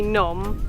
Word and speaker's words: Phnom: cave temple part right the first part definitely not phenom is gonna be numb like Phnom Penh and I have no